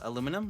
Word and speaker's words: aluminum: say it differently no if you actually look at the spelling the spellings are different so each side is technically correct fun fact fun fact how do you say it uh aluminum that's how it's that's how i say yeah me too that's yeah that's the american version is that johnny have you guys met